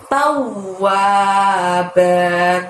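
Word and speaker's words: تواب: Dan yang terakhir adalah lafaz tawwab. Taunya juga sama, masukkan ke huruf bertasydid di depannya, ditekan ditahan 2 harokat. Tau ditekan ditahan 2 harokat diikuti bunyi huruf wa. Tawwab.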